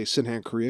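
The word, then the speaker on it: Sydenham's chorea: and tell them that i have sindenham's korea i just say sinhan korea because it's easier to say and if for anyone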